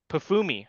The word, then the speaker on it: Pafumi: You're putting the M before the F there. Pafumi, you're right.